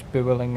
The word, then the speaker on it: Vueling: No, because it's actually B, because Spanish don't pronounce the V. So it's Vueling, actually.